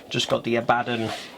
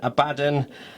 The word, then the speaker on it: Abaddon: me it's always been Abaddon. If it was Abaddon, surely there'd be 2 B's and a single D.